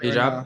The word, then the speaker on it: hijab: Hijab?